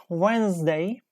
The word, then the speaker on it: Wednesday: Number 11, Wednesday. Wednesday. 11, Wednesday. Wednesday. 11 is D. Yes, D is the correct answer.